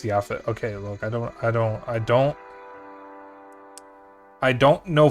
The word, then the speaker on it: Japhet: Alright, Japhet is pronounced Yaphet.